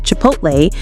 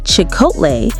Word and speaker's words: Chipotle: His 2022 mispronunciation of Chipotle, calling it Chicotle, not only became a meme, but led to the restaurant chain temporarily rebranding themselves on social media.